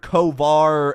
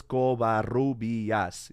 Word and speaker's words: Covarrubias: It's like, how many syllables? 5 syllables. Covarrubias. Yeah, it's 5 syllables, but that's how you say it.